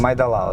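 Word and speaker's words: 麦当劳: - Màidāngláo, yes, Mcdonald's.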